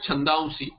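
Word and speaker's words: छन्दांसि: That's why you get chandamsi, the nasalization, and then sakara is pronounced.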